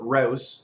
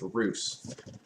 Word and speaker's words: Rousse: suggest you pair your rouse or yeah your roos with a goose and some chocolate mousse so there we go now we know that it's pronounced roos um a darker shade